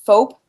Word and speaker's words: FOAP: Have you heard about FOAP? No. What's that one about? It's spelled like soap, but with an F.